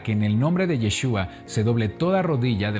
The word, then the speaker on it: Yeshua: yeshua del Elohim nuestro al decir Jesús si bien sabemos A quién nos estamos refiriendo se está pronunciando a una palabra que ha sufrido alteraciones en su pronunciación a lo largo de la historia y no podemos ignorar que el verdadero nombre del mesías es yeshua así lo llamaba a